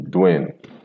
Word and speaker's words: Duane: Look at the spelling. D U A N E. Dwayne pronounced as Dwayne.